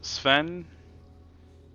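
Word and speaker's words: Sphen: a crumb of sourdough is pronounced Sven but is spelled like s p hen there you go that's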